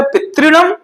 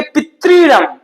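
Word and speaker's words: पितॄणम्: इसका कह पितृणम पितृ प्लस ऋणम अगर यहां है तो ता पे हम थोड़ा जोड़ देंगे और बोलेंगे पितृणम पितृणं दीर्घ है ऋ है ना तो पितृणम थोड़ा दीर्घ उच्चारण होगा।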